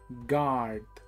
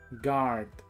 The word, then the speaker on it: guard: pista de aterrizaje Security gard Security gard por favor aquí no vayas a decir o a pronunciar la u solo la a garth guarda de seguridad